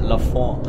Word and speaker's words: Lafont: Wie spricht man Französisch aus? Lafont? Ja, Lafont.